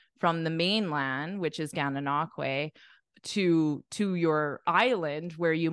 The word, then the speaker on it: Gananoque: The correct pronunciation is Gananoque, This is pronounced quay, quay, quay, quay, a quay at the end, and then Gananoque.